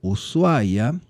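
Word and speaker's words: Ushuaia: Cuando escuchamos el nombre usuaya, que es como llamamos a esta ciudad en Argentina. En Argentina pronunciamos usuaya, no usuaya, aunque se escribe con sh.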